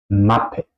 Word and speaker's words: Mappe: aquí por ejemplo Wasser, Mappe, Wasser, Mappe. La A se pronuncia aquí corta. ¿Por qué? Porque tenemos un doble consonante después, ¿ok? Los consonantes dobles tienen el efecto que la vocal antes tiene que ser corta, ¿ok?